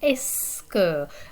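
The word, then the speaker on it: est-ce que: silent letters in here the only thing you're really pronouncing it seems like is the e and the s at the beginning right the t hyphen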